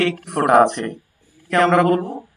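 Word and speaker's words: باء: আলিফ বা তা আলিফ বা তা বা উচ্চারণ হবে দুই ঠোঁট মিলিয়ে বা উচ্চারণ হবে দুই ঠোঁট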